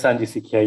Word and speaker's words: Sanjhi Sikhiya: I've got the pronunciation right? Yes, Sanji Sikhiya, yes.